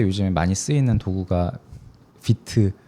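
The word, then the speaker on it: Vite: 요즘에 많이 쓰이는 도구가 비트 어 혹은 파이트라 잘못 발음되는 그 툴이 있는데 그 툴이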